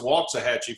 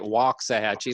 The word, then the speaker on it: Waxahachie: It's pronounced Waxahachie for us locals. Sorry about that. Okay, well, I got to get it right. Waxahachie, like walking.